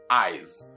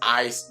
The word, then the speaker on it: eyes: Just as the case of eyes, not eyes, but what? Eyes. Where the preceding vowel affects the S to sound Z for it to be pronounced eyes instead of eyes.